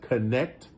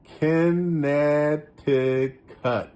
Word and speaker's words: Connecticut: He says, Connecticut, which if I was just to read, I would say, I would have pronounced that Connecticut. But that's the way my brain works. But he says Connecticut.